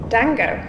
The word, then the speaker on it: Django: Dango? How do you spell that? D-J-A-N-G-O. Django, like Django. The J is silent.